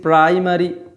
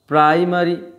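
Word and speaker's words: primary: একটা বড় কারণ হচ্ছে যদি দেখো আই রয়েছে তারপরে একটা কনসোনেন্ট আছে তারপরে যেটা রয়েছে সেটা যদি ই অথবা এ যেকোনো একটা হয় তাহলে কিন্তু এই আই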